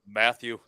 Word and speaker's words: Matteo: They've got a good old domestic scrap between Matteo Germain and Stephen Wilcox going the traditional route, then, boys. I think it's pronounced Matthew. Oh, sorry. Matthew German.